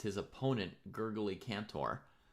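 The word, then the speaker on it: Gergely: It's his opponent Gurgaly Cantor. Gergy. That's how you pronounce it. Gergy. Gergy. Gregory, but Hungarian.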